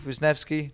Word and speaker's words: Wisniewski: for UFC 145 and we're here with Keith winki did I pronounce that right yes you did who's fighting